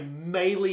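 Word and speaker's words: Meili: get drinks because they're only serving Mele is pronounced melee Mele even though it's spelled m a i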